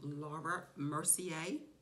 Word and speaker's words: Laura Mercier: thing I am going to do is use Laura Mercier is that how you pronounce it yes okay so I'm going to